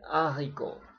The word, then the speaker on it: haricot: Oh iya, ini seperti dalam pengucapan bahasa Prancis, saya ulangi lagi, kalau huruf H itu nggak dibunyikan ya. Le héros, le héroïne, le haricot, buncis, le hors d'oeuvre.